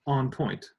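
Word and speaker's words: en pointe: talking about and and it comes from the French on point like in a ballet when the ballet dancer goes up on the tips of their toes right which was pronounced on point and spelled like that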